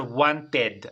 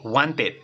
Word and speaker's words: wanted: t no a ver la regla nos dice que le agregamos Ed pero la pronunciación no va a ser Wanted así con e Wanted sino va a ser con ID Vale entonces acá nos